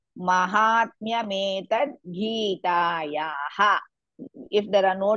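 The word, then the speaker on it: माहात्म्यमेतद्: Again here also it is Mahatmya. Ma is also dirgha, ha is also dirgha. Mahatmya metad. You should pronounce like this. Mahatmya metad Gitayaha.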